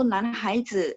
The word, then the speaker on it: 男孩: Nah, untuk yang 男孩 ini juga mungkin karena berpikir oh higher gitu ya, tapi enggak, dia harus disambung. Jadi bacanya 男孩女孩 ya.